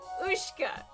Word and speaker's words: Ushka: I was telling you the difference between spelling for your pronunciation. Oh, I'm You have me dying right now. I So, it's Ushka.